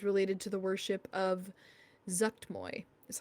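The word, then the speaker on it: Zuggtmoy: the murals is related to the worship of zucked Moy is how you pronounce it um is the seed of power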